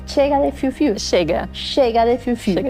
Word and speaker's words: Chega: Tengo que hablar de la campaña que hoy muchísimas mujeres aplauden de pie y es Chega, ¿cómo se pronuncia? Chega de Fiu Fiu. Chega.